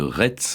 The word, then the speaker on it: Retz: Est-ce qu'on dit Rais ou Retz? Parce que ça s'écrit R-E-T-Z. Oui, ça s'écrit R-E-T-Z, comme le pays de Rais au sud de Nantes, d'où d'ailleurs il tire son nom, mais là-bas on prononce Rais. Alors lui-même, à la fin de sa vie, écrivait R-A-I-S, donc je pense qu'il faut se plier à la coutume.